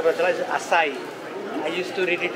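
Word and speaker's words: açaí: आया नहीं था तो यहाँ के पता चला acai I used to read it as achai.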